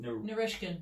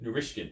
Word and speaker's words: Narishkin: How do I pronounce it? Narishkin. Narishkin.